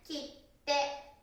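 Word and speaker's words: キッテ: Chữ La tinh hóa là "kitte."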